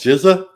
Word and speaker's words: GHSA: have down there uh it's called Giza GHSA it's for the whole city yeah that's how you pronounce it and then South